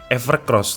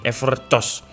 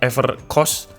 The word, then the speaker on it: Evercoss: Iya jawabannya adalah evercos yang dulu saya kira namanya adalah Evercross tapi ternyata setelah saya teliti lagi ya enggak ada huruf r di sini jadi langsung ever bacanya gimana nih evercos Atau evercost kayak gitu ya evercost Ini adalah sebuah